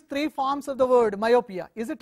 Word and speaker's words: myopia: so that is false though myopia is the three syllables look at the entry myopia so three syllables all right one the Y in myopia sounds like the Y in yard you see it is